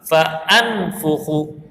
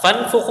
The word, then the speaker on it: فانفخ: ہوگا جیسے کہیئۃ الطیر فانفخ۔ اب فنفخ اس کو نہیں پڑھیں گے، اس کو ہم پڑھیں گے فانفخ، کیونکہ یہ حمزہ قطعیہ ہے اور حمزہ قطعیہ کا تلفظ ہر حال میں کیا جاتا ہے۔ اب اگلے پوائنٹ کی